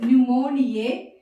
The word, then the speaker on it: pneumonia: The P is silent.